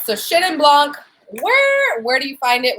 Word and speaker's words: Chenin Blanc: But anyways, so we're taking a journey into Chenin Blanc. Let's talk about how do you say it. Chenin Blanc, like Shin, like S-H-E-N, although it's not spelled that way.